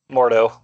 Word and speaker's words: Mordo: out of the thug did i say his name wrong mordo yeah mordo um do you guys